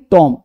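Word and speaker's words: tomb: बी है ना इसे बॉम्ब नहीं पढ़ेंगे बॉम्ब टॉम नहीं टॉम कॉम्ब नहीं कॉम डम नहीं डम अब सब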